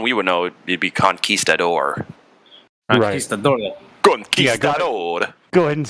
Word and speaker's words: conquistador: that we one we would know would be conquistador go ahead and spell that out uh c-o-n-q-u-i s the door yeah